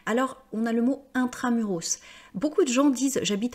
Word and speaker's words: intramuros: mais vous n'habitez pas intramuros vous voyez c'est un mot latin c'est pour ça que là je prononce le S normalement on ne prononce